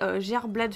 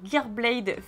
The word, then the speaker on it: Gearblade: chimer alter g et gerblad Phenix non attendez on la refit c'est pas ça c'est gearblade Phenix je pense que ça ça se prononce en anglais du coup en carte